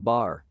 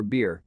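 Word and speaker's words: Bhaer: at his horrid name it isn't pronounced either bear or beer as people will say it but something between the two as only Germans can give it I'm glad you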